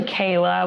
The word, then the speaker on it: Kahla: say your last name it's actually kayla but kayla oh yeah i mean i wouldn't expect anyone to read it and think that the h is a y i mean my last